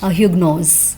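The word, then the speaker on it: Huguenot: French में इसमें जो एच है दैट इज़ साइलेंट, तो इसको इग्नो पढ़ते हैं वो लोग, इग्नो, और इंग्लिश में इसको वो लोग पढ़ते हैं ह्यूगनोज, ठीक है।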